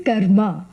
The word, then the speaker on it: karma: Except when you have car trouble, it is called karma. That's how Americans pronounce the word. Actually, it is karma.